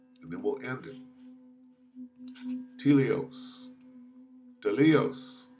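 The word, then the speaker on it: τέλειος: Telios. Telios. How do you say it? Strong's G 5046. Teleos.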